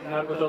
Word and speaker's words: 鳴子調: 鳴子の調べと書いて鳴子町と申します。